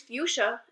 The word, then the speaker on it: fuchsia: No, but here's fuchsia, Abby said. What? That's how it's pronounced, Noah.